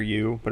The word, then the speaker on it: Ubu: the air the area Ubu like with the letter U the letter B the letter U but it'll be pronounced Ubu to go along with